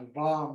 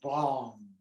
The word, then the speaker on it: Bam: Sound the syllable bomb. Once for you and once for infinite sentient beings. Bomb. In Tibetan, it's Bam, B-A-M.